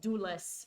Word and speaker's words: Dulles: Not Dallas, the city in Texas, but Dulles, spelled D-U-L-L-E-S. Hopefully my pronunciation doesn't mess up the name of the of the actual location.